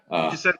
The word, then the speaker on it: Degisento: I believe you told me how to pronounce it, so hopefully I didn't butcher that. Degisento, that's fine.